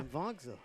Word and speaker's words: Pimvongsa: Yeah, thank you, Carson Pimvongsa. Ward on our YouTube. So Pimvongsa. Thank that's what you we'll very go with. much, Yeah. Pimvongsa.